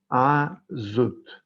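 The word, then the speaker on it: עזות: Azut se escribe en el hebreo, para aquellos que ya saben el hebreo, el idioma del paraíso, se dice Azut, perdón. Se escribe con Ain, Zain y Taf.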